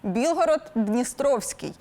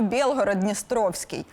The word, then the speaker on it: Білгород-Дністровський: втім чи правильний він Пригадайте місто на Одещині білгород-дністровський і чомусь ми його не називаємо білгород-дністровський а все через те що зі старослов'янського ятьь в українській мові з'явилося і а в російській є наприклад у нас вінок а в окупантів вінок точно така ж ситуація з білгородом і сам Так це